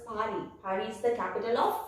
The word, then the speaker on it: Paris: The last S won't be pronounced and is pronounced as Paris.